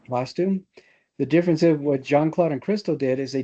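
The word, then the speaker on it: Jeanne-Claude: Um, I didn't see the picture attached, but I did look up um is it is it pronounced Janine Janine? It it JohnClaude and Cristo.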